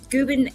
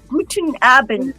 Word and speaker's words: Guten: Guben. How do you say that? Gooden. Guten. Guten Aband.